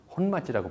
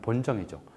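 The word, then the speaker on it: 本町: 일본인이 가장 많이 살았던 일본인의 중심지, 혼마지라고 불렀어요. 한국식 발음으로 하면 본정이죠.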